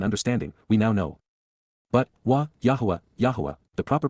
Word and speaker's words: Yahowah: But, YAHOWAH, Yahowah, the proper pronunciation of the name of Eloah, God as